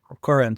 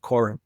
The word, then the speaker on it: Koren: It's his name is spelled A R T E M and then it's How do you say your last name? It's K O R E N. Koren? Yeah, Koren.